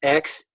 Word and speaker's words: Xenakis: Xenakis, how do you pronounce that? That's some wild stuff. Xenakis. Yeah, it's Xenakis.